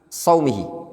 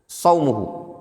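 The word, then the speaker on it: صومُه: Kemudian jelas mas'alatun idza qadimal insan min baladin mutaakhiri saumihi. Apabila seseorang atau mutaakhirin saumuhu, bacanya saumuhu ya.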